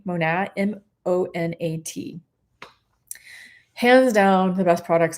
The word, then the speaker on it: Monat: They're called, I pronounce it Monat, Monat.